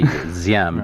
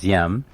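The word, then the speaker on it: Diệm: by the way uh d in vietnamese is pronounced like z ziem d-i-e-m is ziem ziem was was really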